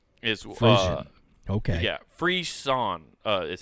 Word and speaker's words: frisson: So it's called frission. Frission. Okay. Yeah, frisson is how you say it. Sorry, I looked at the pronunciation.